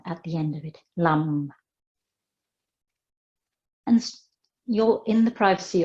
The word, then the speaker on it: Lam: is Lam L AM and it's pronounced Lum the selectmen sound at the end of it Lum and you're in the